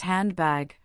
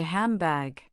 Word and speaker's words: handbag: You might expect it to be pronounced handbag, but most people say handbag. The N sound changes to an M sound because the following sound is a B, which is made with the lips, just like M.